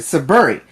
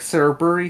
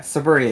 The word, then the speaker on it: Saburi: saburi is yes i i am pronouncing suburi i was like sir berry so yeah suburi it is um happy panda says